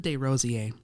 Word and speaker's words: Desrosiers: Desrosiers. It's a French pronunciation.